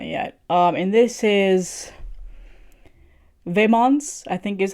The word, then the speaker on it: Vemod: And this is Vemod, I think is how you say their name. Let me see, because let's just play it here. Vemod.